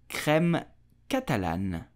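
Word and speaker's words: crème catalane: and both in France so how do you pronounce this dessert quite similar to a creme brulee so you will say creme Catalan creme Catalan KREM did you know that creme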